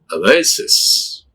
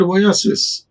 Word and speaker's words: oasis: This is A. This is S. This is sis. Oasis. See, how do we pronounce? It is not oasis. It is oasis.